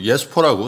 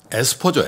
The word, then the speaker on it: 에스퍼: 왜 그 예스퍼라고, 사실은 예스퍼 에스퍼죠. 에스퍼.